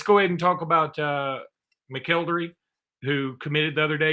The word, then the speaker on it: McElderry: Now, let's go ahead and talk about McElderry, who committed the other day.